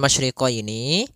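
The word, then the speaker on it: المشرقين: Kemudian masriqaini pada lafal masyriqini maka di sini ada huruf syin maka kita harus membacanya dengan adanya sifat tafasyi Apa itu tafasyi tafasyi adalah salah satu sifat yang terkandung di dalam huruf syin yaitu menyebarnya suara sehingga Jangan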